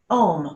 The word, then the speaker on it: Aum: your internal sound is ohm whether you say o m or you pronounce it a u m doesn't matter right because the interesting thing